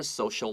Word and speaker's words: social: For school or social life，不管是在学校求学的技能也好，或是 social life，她社交的能力也好，其实上她的成长背景没有提供她任何的协助。 Now, provide 下面的话 please write G-I-V-E. Provide means give. Write it down. Now, look at the word social. S-O-C-I-A-L. 这个 C-I 的发音，它发 S-H. Social.